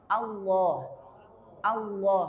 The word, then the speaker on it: Allah: Allah, bukan O. Mudah sebenarnya, itu mudah. Cuma kadang orang itu mencontohkan yang benar tapi nggak tahu caranya. Maka sama santrinya itu Allah malah melu Allah akhirnya karena dia ke bawah.